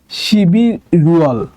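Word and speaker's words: 십일월: ঠিক আছে, তাহলে এই বাচ্চিম দুটো যদি ইয়ং এর জায়গায় চলে যায় তাহলে উচ্চারণ হবে শিবি রুয়াল, শিবি রুয়াল।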